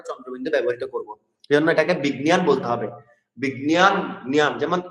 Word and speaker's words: বিজ্ঞান: তাহলে আমরা বলছি বিজ্ঞান, বর্গীয় যোগে গ উচ্চারণ করবো, আর এটাকে ঞকে ঞর মতো উচ্চারণ করবো, বিজ্ঞান জ্ঞান বিজ্ঞান।